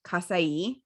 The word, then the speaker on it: Casai: there's a company called i think it's pronounced casai it's c-a-s-a-i and it's kind of